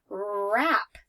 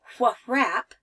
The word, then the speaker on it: wrap: okay this one here wrap I'm going to wrap a birthday gift I don't say what wrap right I just start with the are sound rap okay and so